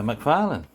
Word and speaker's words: McFarlane: um today it's the spawn Gunslinger Spawn by McFarland and that's the right pronunciation I think it's cool character this one's